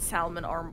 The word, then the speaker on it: Salmon Arm: has for some reason the english added the l but it's still pronounced like salmon so i don't know i've called it salmon arm all my life i'm